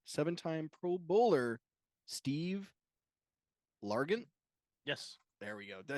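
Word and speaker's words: Largent: 13,089 touchdowns 100 seven Time pro bowler Steve lant yes there we go did I say it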